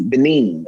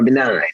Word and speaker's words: Benin: And one of the places was Benin or Benign. I know it's pronounced differently.